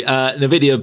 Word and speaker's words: NVIDIA: NVIDIA.